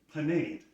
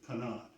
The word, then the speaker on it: panade: The first step is to make a panade, or depending on your pronunciation, panade. I'm going to go with what I think is probably the more European version, panade.